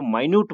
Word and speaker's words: minute: लेकिन इसका मतलब हम इसको जो है जब इस सेंस में ले, जब इसका अर्थ जो है सूक्ष्म हो, तो अब इसको हम जो है प्रोनाउंसिएशन जो है इसको माइन्यूट बोलते हैं।